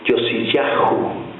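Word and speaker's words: יֹאשִׁיָּהוּ: Josías en el idioma hebreo se pronuncia o se lee Yosiyahú.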